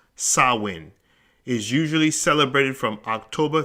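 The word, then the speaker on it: Samhain: GIC word pron pronounced sawin s a h w i n the very word itself is spelled s a m h a i n but it's pronounced sawin is usually celebrated from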